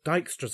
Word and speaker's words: Dijkstra: or via D it is possible to apply Dijkstra's algorithm yes that's how you pronounce that name which evaluates the shortest distance